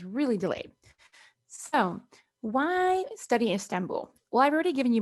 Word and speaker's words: Istanbul: up there for you in english we would say istanbul that b-u-l we get the oo sound so istanbul and all i put